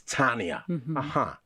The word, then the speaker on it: Tania: It's Tania. Okay, Tania. But pronounced Tania or spelled differently for...